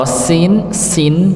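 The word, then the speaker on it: سين: tapi tempatnya yang berbeda kalau Sin Nggih itu ujung lidah Nggih bertemu dengan gusi bagian bawah sa si jadi kalau kita rasakan ujung lidah ini bertemu dengan gusi bagian bawah walaupun bukan paling bawah pangkalnya tapi ujung dekat dengan pangkal gigi ngih sa kalau Sin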